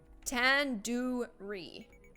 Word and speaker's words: tandoori: Surely you at least recognize the tandoori chicken. You're saying it wrong. Wait, really? Tandoori? Tandoori. The do isn't like door. The do isn't like in door. It's like in doo-doo head.